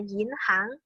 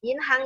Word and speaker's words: 银行: Jodoh Berdua kita disini Ini bacanya adalah yinhang yinhang itu kalau Mungkin kalian atau bahasa Hokkian Kayaknya udah taulah artinya apa karena dia mirip ya dengan bahasa Hokkian in hang itu artinya adalah Bang